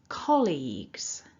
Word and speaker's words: colleagues: So building it back together, remember we're stressing syllable one. Repeat after me, nice and loud. Colleagues.